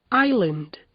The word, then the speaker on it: island: Nos casos a seguir, o S e o L aparecem na palavra escrita, mas o S não é pronunciado. Ouçam, repitam e gravem. aisle, island, A classic false friend.